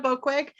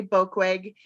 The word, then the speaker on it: Boekweg: So I am Boekweg. In case you're wondering how you say Boekweg, it rhymes with broke leg.